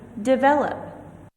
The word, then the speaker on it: develop: See, the stress marker is on the second syllable in this word. Develop. Compound nouns.